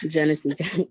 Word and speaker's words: Genesee: Genesee County. It's a county. It's in Michigan. Okay, Genesee County.